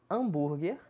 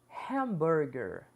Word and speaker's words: hamburger: Devemos esquecer que pronunciamos hambúrguer, shopping, hot dog, love e night. Vamos começar aprendendo a pronúncia correta dessas palavras utilizadas no nosso dia a dia, que são de origem inglesa. Iremos repetir cada palavra 3 vezes. Hamburger, hamburger, hamburger.